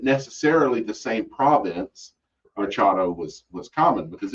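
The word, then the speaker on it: charro: Charo. Charo. Yeah, it's spelled charo, but Yeah. those two R's is going to be pronounced charo.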